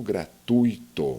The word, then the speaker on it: gratuito: aqui no caso o gratuito Olha só o ditongo é um encontro vocálico Mas duas vogas na mesma sílaba duas vogais na mesma sílaba é o mesmo caso que ocorre com a palavra fortuito quantas vezes nós escutamos